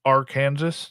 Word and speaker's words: Arkansas: Sir, that's pronounced Arkansas. Just want to clarify.